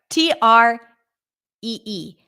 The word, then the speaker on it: tree: t r e e how is the T pronounced so it is not fre we don't pronounce it as an F but did you know that we actually don't pronounce it as a t either it's not t t listen up sh tree I'm sure you've heard